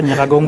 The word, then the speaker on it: Nyiragongo: Nous parlons principalement de ce qui était arrivé à Goma, l'éruption du volcan Nyiragongo. Oui. Je ne sais pas si j'ai bien prononcé. Oui, c'est ça, Nyiragongo.